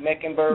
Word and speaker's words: Mecklenburg: the ancestry of the meccan birds am i pronouncing that right meckenberg yes megan burks yes um well queen charlotte